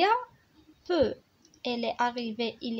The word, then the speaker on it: peux: اما peu p e u x اللي قلنا هنا الاكس ما كتنطقش موي.